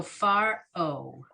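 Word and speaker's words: פרעה: Because the ayin is silent anyway, it's another way to represent that O vowel. So far O.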